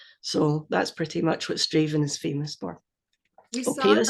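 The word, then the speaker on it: Strathaven: you miss out the middle three letters you'll be fine straven stra yeah nearly nearly straven dven dven I know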